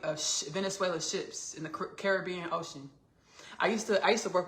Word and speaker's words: Caribbean: And I said Caribbean in front of her. She was like, Ashley, do not pronounce it like that. She's like, it's Caribbean. She said, it's Caribbean. No, she said it's Caribbean.